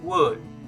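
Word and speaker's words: wound: To pronounce this word, it's actually wood. Wood. Most people will say wood or wood. No, it's wrong. Okay? To pronounce this word, I want you to repeat after me. The correct way is wood. It's like W-U-N-D. Wood.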